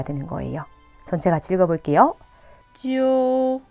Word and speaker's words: 揪: 읽을 때는 오히려 되살려서 오를 넣고 지우가 아닌 지어우 발음이 돼야 되며 후이가 아니라 후에이, 뚠이 아니라 뚠이 돼야 되는 거예요. 전체 같이 읽어볼게요. 揪灰蹲 그 다음 규칙입니다.